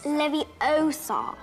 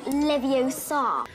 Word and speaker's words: Leviosa: besides you're saying it wrong it's leviosa not leviosa a genius like dumbledore